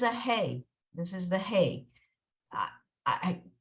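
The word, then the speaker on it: ה: is the hay I the best way to explain how to pronounce use a hay is it's like if you have a Kleenex in front of you and you go that's what a hey sound is uh so this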